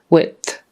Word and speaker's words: width: th it just you make the D behind the middle of the teeth so it's easier to just stick your tongue out width width breadth